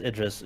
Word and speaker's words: Idris: make their mind no correctly it is Idis just like the actor ID El Elba but it's but it's